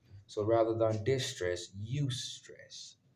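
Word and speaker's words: eustress: at as positive stress so rather than distress you stress e u s t r SS the E is silent um as it is spelled in as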